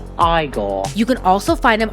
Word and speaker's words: Igor: Now it's pronounced Igore.